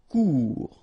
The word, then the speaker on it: court: Final T not pronounced. Court. Remember, when you combine this O and U together, you get the sound OU.